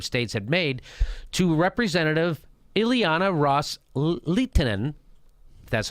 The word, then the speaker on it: Ileana Ros-Lehtinen: the Sunni Arab states had made to representative Ileana ros-lehtinen that's how you say her name quote with